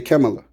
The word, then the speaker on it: Kamala: I'm saying her name the same way Indian folks say her name. They say Kamala.